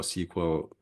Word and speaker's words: SQL: it kind of produces these really really complex queries and for someone uh that's not doesn't really know SQL or SQL that's that's how it should be pronounced uh then it's really